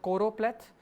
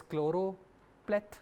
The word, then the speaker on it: choropleth: be familiar is called choropleth often misspelled or mispronounced as chloro pleth but it is choro for some reason and